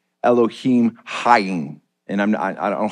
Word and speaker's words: Elohim: uh Jewish sages actually encourage people to pronounce Elohim as eloh C heem and I I know it sounds like it's almost the same depending upon the accent